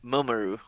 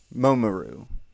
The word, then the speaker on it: Mamoru: I know I pronounced that first name wrong. Momoru. Mamoru Oshii.